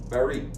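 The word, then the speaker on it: Barrie: B A R R I E is the correct spelling. and the pronunciation is correctly stated as bare.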